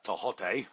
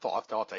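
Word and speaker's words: Tehuti: And getting back to Tehote, I like saying his name the right way, not Tehote.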